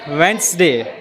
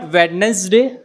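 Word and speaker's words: Wednesday: क्या आता है इट्स वेनसडे इट्स नॉट वेडनेसडे इट्स वेनसडे वेनसडे वेनसडे आर you free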